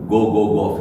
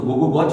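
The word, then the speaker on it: Gogogoch: वो आप पढ़ोगे तो GOGOCH एंड में, तो वो तो गो गो गॉच होता है, गो गो गॉच, पर वो वेल्श में लिखा गया, वो उस गांव का नाम वेल्श में, तो उसका प्रोनाउंसिएशन भी राइट बोलना पड़ेगा मुझे। तो मैं जब बोलूंगा तो गो गो गॉफ, गो गो गॉफ, CH 4 हो जाता है।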